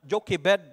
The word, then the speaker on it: Jochebed: Sige kung unsam gisaktong pronunciation ani. Salamat ko sa internet nga naa Jochebed.